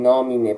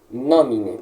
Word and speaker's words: nomine: Ou seja, se a braquia está aqui no mi, perceba então que a sílaba tônica será nomine.